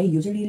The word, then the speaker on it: usually: 그러니까 usually 할 때는 you 지나치게 길게 연습을 하시면 좋아요.